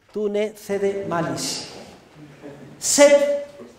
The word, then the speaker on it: sed: ne cede malis, M-A-L-I-S, tú ne cede malis, sed, S-E-D, contra, como suena, sed contra, audentior, audentior, A-U-D-E-N-T-I-O-R, audentior, ito, ito, que no es una palabra japonesa, sino latina. Tune cede malis sed contra audentior ito.